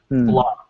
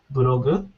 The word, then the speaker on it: blog: Now in Japanese this is called buru. Buru is three sounds. Right. Right. Right. Right. But in English it's blog. It's one sound. Blog, one syllable. Um in English you hear words and you hear the rhythm with these beats. So one beat blog is only one beat.